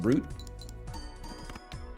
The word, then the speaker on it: Brut: don't know art Brut Brut is pronounced brute I am brute champagne